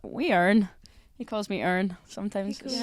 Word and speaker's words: Erin: He wouldn't say Erin, he would say Irn. Irn. So it's very cute, and all my family in Northern Ireland call me that. So they miss out the I in the pronunciation, but yeah, it's super nice.